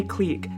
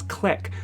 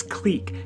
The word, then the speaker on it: clique: That is how you say clique. I didn't choose how to say the word. It's not my fault that it's not pronounced as click, so I'll hear no comments about how I'm saying it wrong.